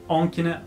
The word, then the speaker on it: ans: ඉතින් අමතක කරන්න එපා on. මෙතන on කියලා දාන්න. on කියන්නේ years old. ඉතින් s එක අපි pronounce කරන්නේ නැහැ.